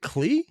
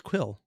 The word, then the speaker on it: Klee: That's how you say it? Klee? I thought it was Quill. Oh.